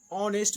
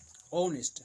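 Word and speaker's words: honest: है एकदम स्पष्ट रहा कि आवर में आ आएगा तो ऑनेस्ट में ऑ से का प्रोनाउंसिएशन करना है, ऑनेस्ट, हम लोग ऑनेस्ट ऑनेस्ट ये सब ऑनेस्ट।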